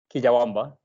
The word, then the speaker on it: Quillabamba: So can you tell me a little bit about the farmers themselves who live in this region in Cuyabamba? Is that how you say it? Quillabamba. Cuyabamba. Got it.